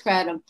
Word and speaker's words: kratom: of the fact that we don't even know how to say the word kratom or kratom i had to go to the google uh to find out that it is kratom so if it is